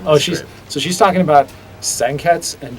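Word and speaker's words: 鮮血: pronounce the U like senketsu and junketsu, and that is apparently not the correct pronunciation. The U is a very silent U, and so that's one of those challenges where we talked about it.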